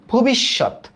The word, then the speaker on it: ভবিষ্যৎ: ব্যাখ্যা, এই যে ব্যাখ্যা, এটা দেখো তো ভবিষ্যৎ, এটা তো আরো ইজি। দেখো ফার্স্টে ভো, তারপর কি বলি? বিশ, ভবিষ, ভবিষ্যৎ, ভবিষ্যৎ।